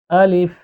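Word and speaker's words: ألف: এ অক্ষরটি উচ্চারণের সময় কোনরকম টান দিয়ে পড়া যাবে না। উচ্চারণ এইভাবে করতে হবে। আলিফ আলিফ কোন রকম টান ছাড়াই।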